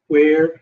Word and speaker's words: wear: Where sounds like hair. Wear hair, right?